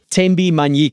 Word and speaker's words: Thembi Manyike: So excited to have in office in the studio with me TMBI Manik. Did I pronounce that correctly TMI?